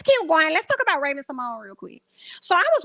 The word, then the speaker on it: Raven-Symoné: She said her name is Raven-Symoné. I said, "Bitch, who? Say my name. Say my name. Like, what are you? What you? Is who? What is it? Because that's what it sounds like. Say my name." And she was like, "It's Symone."